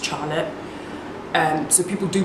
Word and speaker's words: Charlotte: My name obviously is quite a white name anyways, but it is not pronounced Charlotte, which a lot of people pronounce it as. It's actually pronounced Charlotte.